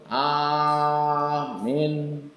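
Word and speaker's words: آمين: Amin atau amin atau amin. A-nya pendek, minnya panjang. Amin.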